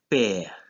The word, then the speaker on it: père: Another example is the word père, which is father. And in this case, E with a grave accent is pronounced E.